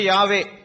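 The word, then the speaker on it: Yahweh: அவரை குறித்து சொல்லும்போது வேதாகமத்திலே யெகோவா என்பது அதுவே கூட்டி சொல்லப்பட்டதான ஒரு ஒரு உச்சரிப்பு தான் சரியான உச்சரிப்பு யாவே அப்படின்னு தான் வேதாகமத்தில் இருக்கு அந்த யாவே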